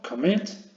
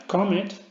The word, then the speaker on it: commit: Tenemos aquí una palabra de dos sílabas, commit, ¿vale? No es commit, sino commit, el golpe de voces en la última sílaba, pues duplicaría esa consonante final, ¿vale?